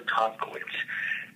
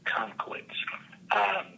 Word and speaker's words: Tomkiewicz: Yeah, I'll tell you, one of my best mentors is Dr. Joe Tomkowitz. If you need to spell it, that's Tomkiewicz. Joe Tomkowitz.